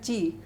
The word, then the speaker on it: Kyi: mention this also, that KYI is pronounced as Chi. So don't get confused when I pronounce it.